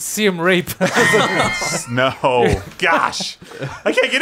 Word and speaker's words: Siem Reap: Siem Reap was actually the name of the lady boy. No, it was not. no, Siem Reap, no, why you lie? He's mispronouncing it. It's Siem Reap.